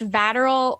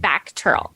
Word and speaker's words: VACTERL: uh well you were born with is it pronounced lateral or how do you pronounce that it's pronounced back Turtle okay I'm missing the C that's why okay